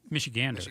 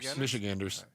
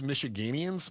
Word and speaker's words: Michiganders: How do you say Michiganers? Michiganers? Michiganders. Michiganders. Um, You can also use Michiganians, but it's I know Chris from Michigan.